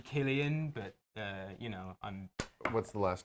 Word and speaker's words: Cillian: Like Killian Murphy. It's actually Killian, but I'm What's the last name though?